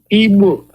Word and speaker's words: Igbo: Igbo land can say is that GB. Igbo. They cannot make that sound.